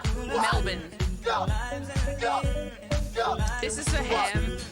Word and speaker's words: Melbourne: Not Melbourne. I love when Americans call it Melbourne. Because it's the way it's spelled, right? So you think it'd be that way, but no. Like a garbage bin. Melbourne.